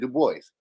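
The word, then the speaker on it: Du Bois: up that's exactly why but he didn't pronounce it like that he pronounced it the boys so that's what I'm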